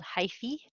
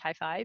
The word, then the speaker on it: hyphae: plural these are called hyphae. Um, in Latin that should be pronounced hyphae, but that sounds like stereo equipment, so everybody I've ever heard pronounce that calls hyphae instead of hyphae.